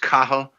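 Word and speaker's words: Cathal: oh come on you god okay I'll try cath all wrong nope didn't think so I tried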